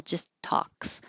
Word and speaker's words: talks: We talked about talks, not pronouncing the L, just talks.